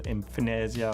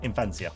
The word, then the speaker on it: Infansia: go, oh, what's the Infinesia or Infnosia or but it's Infansia. That's how you say it, with an FPH, like in at, as in PHAT, Infansia.